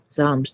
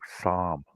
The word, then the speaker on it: psalm: Oh, psalm. I said a Psalms. song. Am I saying it wrong? I don't know. No, psalm. Psalm. So, Like knife knife. and fork. Yeah, knife, fork, psalm.